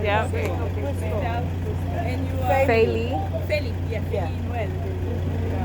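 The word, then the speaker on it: Felie: Feli. Feli. Yeah, Feli. How you spell it?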